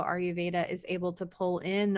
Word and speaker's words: Ayurveda: i normally say it she says are you veda are you veda i your veda i've been saying it